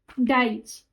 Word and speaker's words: Deutsch: डाइच, डी ई यू टी एस सी एस, डाइच।